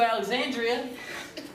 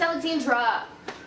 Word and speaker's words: Alexandra: i don't call you alexandria first of all another reason why i'm breaking up with you that's not even my name you have an extra syllable it's alexandra you're such a terrible